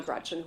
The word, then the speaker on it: Gretch: named after my grandma Gretchen who I adore. It's funny though because she always said, "Never let anyone shorten your name. Don't let people call you Gretch because it rhymes with wretch."